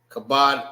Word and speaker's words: Kabod: Ka is pronounced by itself. It makes one sound. And bod makes one sound. Kabod. So there's two different sounds. You got ka and bod.